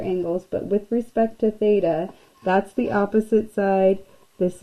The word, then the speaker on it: theta: So say theta. This is how you pronounce this guy right here.